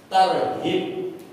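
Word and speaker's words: ترهيب: 16 adalah untuk tarhib nah ini bahasa Indonesia nulis tarhid itu dari huruf ha tarhib itu artinya mempertakutkan sesudah targib ini pakai ghin ya Gin itu menggembirakan jadi dalam bahasa Arab targib pakai ha sama targhib pakai gain ini ee artinya justru berlawanan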